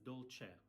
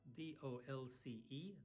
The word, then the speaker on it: dolce: an Italian restaurant, you say, voglio ordinare il dolce, I want to order the sweet, il dolce. It's not dolce, it's dolce, D-O-L-C-E, dolce.